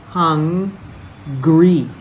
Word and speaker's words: hungry: there are two G's hungry hungry we have to pronounce the G in that word verse 38 sent me